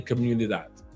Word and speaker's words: comunidad: Build a comunidad. Did I pronounce it correctly? Yeah, you said it right.